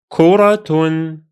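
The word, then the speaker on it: كُرَةٌ: It will be kuratun, kuratun, kuratun. Here, the Ta Marbuta is pronounced as a T sound because it carries a vowel. You pronounce it exactly as if it were a normal Ta.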